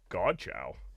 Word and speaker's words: Godchaux: Godchaux. Godchaux.